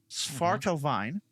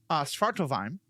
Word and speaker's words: Svartalfheim: part of the universe, which I will pronounce correctly. We've discussed it before. Svartalfheim. Svartalfheim. Though you would not think that immediately, just seeing this weird collection of letters on the screen.